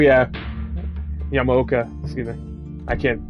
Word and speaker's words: Yamaoka: i checked the twitter don't blink just akira yamaoko yeah yamaoka excuse me i can't pronounce where uh names here he comes